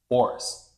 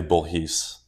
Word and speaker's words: Bourhis: name is it French it's technically bhes what's bhes bhes is the French pronunciation of my last name but we we butchered